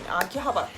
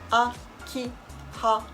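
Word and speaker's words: 秋葉原: You need to say the all letter same pitch. Akihabara. Akihabara じゃなくて it's not Akihabara じゃなくて different it's not Japanese. Akihabara same pitch all letter is same pitch.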